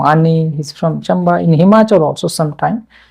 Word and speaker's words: Himachal: For example, pronouncing the word Himachal. How Punjabi people pronounce this? Himachal. Himachal. How? Punjabi people, we say Himachal. The Punjabi people will say Machal. Okay, they will miss some sounds.